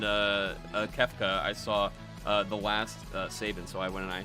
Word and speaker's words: Sabin: Do they pronounce Sabin's name? Is it Sabin or Sabin?